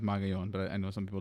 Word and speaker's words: Magallon: J A sorry JMA his last name is magayon but I know some